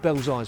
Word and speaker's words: Belsize: our way to London's most Central Rugby Club belly Park just so you where that's actually how it should be pronounced anyway here are some key effects on